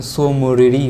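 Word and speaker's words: Tso Moriri: तसो लिख दिए हैं, लेकिन इसका हिंदी प्रोनाउंसिएशन सो मोरीरी होगा, सो मोरीरी, और यह जम्मू कश्मीर राज्य में है।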